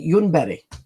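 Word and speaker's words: Ljungberg: Now, no one in, you know, in the Nordics has heard of him because it's Freddy Yunbury.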